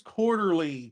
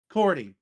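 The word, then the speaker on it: Quartey: Ian Jones Quarterly directed it. So, Cordy directed it. I've been saying his name wrong for years.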